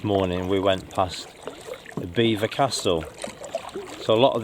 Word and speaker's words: Belvoir: we went past the beaver Castle so a lot of this land around here is estate land Beaver Castle as it's uh pronounced is spelled Belvoir and that's from the